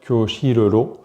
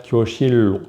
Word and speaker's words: 교실로: On ne va pas mettre kyoshiroro, mais juste simplement lo, pour faire kyoshirro, toujours dans un moyen d'aider à la prononciation, On aura donc 하나씨 지금 어디에 있어요?